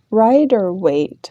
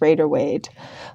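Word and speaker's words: Rider-Waite: weight for some reason every time I go to pronounce that it just flows out of my mouth as Raider weade like there's an A in there when there isn't one so apologies if I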